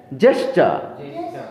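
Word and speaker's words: gesture: উচ্চারণটা কি হবে? জেস্টার।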